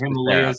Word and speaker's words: Becerra: Is it Becerra or Becerra? No, it's Becerra. This is becoming like a Maramed thing now. If I could get a Becerra jersey, I would. I actually knew that was Becerra. I butchered that. It's all right. Yeah, you fucked me up. I'm sorry. It's Becerra. For sure, it's Becerra.